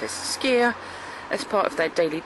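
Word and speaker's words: skyr: icelanders have enjoyed the nutritious benefits of skia pronounce as skia as part of their daily diet carefully strained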